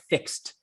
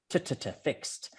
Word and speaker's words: fixed: good and of course when we have that d after the x the e d it's a t and you hit that right fixed fixed good job okay me